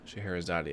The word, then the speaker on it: Scheherazade: Okay, it is spelled S-C-H-E-H. Oh, I got it. Yeah, okay. Yep, I'm letting that autocorrect. Scheherazade. Scheherazade, okay.